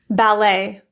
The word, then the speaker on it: ballet: There are also French words to be aware of that often have that silent T at the end. Here are some examples. Ballet, buffet, filet, depot, chalet, gourmet, rapport, and ricochet.